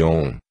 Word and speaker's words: Om: É o caso do vocábulo Aum, que se pronuncia mais propriamente Om, pois é um mantra poderoso em qualquer latitude geográfica.